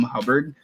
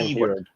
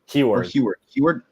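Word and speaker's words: Huard: And the only one we got was a kid named Sam Hubbard. And you're not going to believe Sam Heward. Heward. I am so sorry for pronouncing both of those B's.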